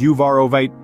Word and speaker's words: uvarovite: you ever wondered about the magnetic pull of uvarovite the emerald of the garnet family this captivating stone with its vibrant green Hue holds a world of mysteries and energies waiting to be explored uvarovite pronounced as uvarovite is not just another pretty Stone its story